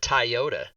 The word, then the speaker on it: Toyota: do you pronounce it Toyota it's toy like a child's toy and she goes sure